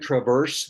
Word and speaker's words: Traverse City: looks like traverse, but it's pronounced Traverse, like you traverse somewhere, but it's actually where we live, it's called Traverse City.